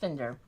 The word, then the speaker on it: Finder: So there are already some cool quotes in, but Joseph Finder, looks like his name is Finder, but it's Finder, pronounced Finder.